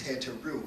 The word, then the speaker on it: Hathor: The word Hatha yoga, or the word Hatha, represents is speculated to come from an African word called Hathor, whose correct pronunciation is Heteru.